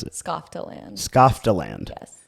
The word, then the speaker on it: Skofteland: How do you pronounce it? Skofteland.